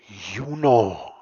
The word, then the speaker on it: Juni: Junio y julio suenan muy parecidos. Para aclarar la diferencia, la gente a veces los pronuncia de la siguiente forma. Juno. Juli.